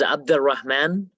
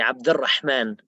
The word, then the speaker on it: Abdul Rahman: the full name is Abdul Rahman uh if I say it in Arabic it's kind of strong we say abdulrahman uh since it's hard